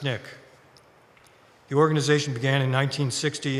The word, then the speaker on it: SNCC: referred to by the an acronym SNCC pronounced Nick the organization began in